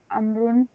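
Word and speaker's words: عمرو: The proper Amrun is written with a vowel which is not pronounced. This is done to differentiate it from Umar.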